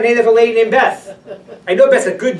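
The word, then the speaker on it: בית: It's very bizarre how in America, for some reason, they've taken the Teimani explanation, this pronunciation, when they call synagogues.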